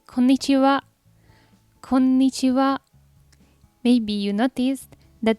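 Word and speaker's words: こんにちは: later during the day you can simply say konnichiwa konnichiwa maybe you noticed that the last character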